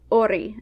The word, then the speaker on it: hori: In fact, the silent H can lead to the dropping out of the H in the word entirely, at least when it comes to spelling.